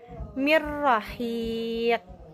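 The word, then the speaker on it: من راق: Kita coba pelafalan idgham tanpa gunah. Mirrahiq. Jadi nunnya dilebur. ro-nya jelas. Durasi pelafalan ro sukun, durasi ro bertasjid.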